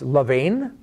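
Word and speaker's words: לָבָן: And Laban, if you actually pronounce it with the different vowel points, it's Levain.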